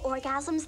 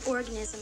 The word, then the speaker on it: orgasm: We could talk about female ejaculation, multiple orgasms, the G-spot, that sort of thing. Everything you wanted to know that the parents wouldn't tell you. What's a multiple organism? It's pronounced orgasm, Oscar, not organism.